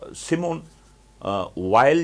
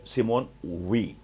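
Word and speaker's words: Simone Weil: تو سیمون وائل جو ہے، یہ انگریزی بولنے والے اس کو یہ پروناؤنس کرتے ہیں، لیکن فرانسیسی زبان میں اس کا جو تلفظ ہے وہ ہے سیمون وی. ٹھیک ہے، یہ WEIL. تو ایل فرانسیسی میں سائلنٹ ہو جائے گا، اس کا آخر کا نہیں بولا جائے گا، لیکن انگریزی میں جو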